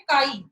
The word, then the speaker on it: chi: बेटा जो ये मैंने ऐसे एक्स बनाए थोड़ा कर्सिव में करके, इसको हम CHI, इसको हम प्रोनाउंस क्या करते हैं, काई, CHI, काई है ये किसका सिंबल है, इलेक्ट्रोनेगेटिविटी का सिंबल है।